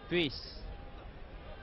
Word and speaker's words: Puis: préférable pour vous de prononcer le nom de l'ailier gauche belge puisse puisque ça seul écrit p us plutôt que paye ce qui est la prononciation belge de valk and on